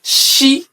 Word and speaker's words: Ṣ: So in Yorùbá alphabet, when you see letter S with dots underneath, it is pronounced She.